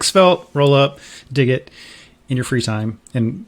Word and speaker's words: degit: It's supposed to be degit. Everyone gets that wrong. It's like you're removing the Git parts from a Git repo.